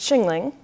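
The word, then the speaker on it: Qinling: be a new one it's pronounced shingling and it's an area refers to an area in China I think something about where the water meets the mountains and another buzzword opportunity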